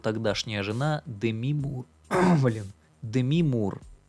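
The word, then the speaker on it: Demi: жена деми мур уволен деми мур в мультике муж которого озвучивал плюс вылез заказывает убийства жены которую озвучивала деми мур деми в имени ударение на букву и они на букву е не деми деми начинается мультик про бивиса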